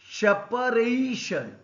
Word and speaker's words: separation: Another example, separation. It is a 4-syllabic word. Here R is stressed.